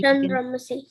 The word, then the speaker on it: Chandramasi: Chandramasi. Good job. That is correct. Somewhere for C, you all are saying ka.